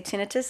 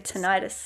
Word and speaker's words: tinnitus: In Australia, we say tinnitus. America, tinnitus.